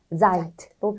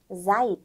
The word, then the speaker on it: seid: 이어에 맞는 네, 자인 동사는 seid. seid이죠. 드라고 쓰고 트라고 읽는다.